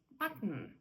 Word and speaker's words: button: наприклад гудзичок Bon Да ми з вами знаємо buton але в американців Button Button або кошенятко kitten kitten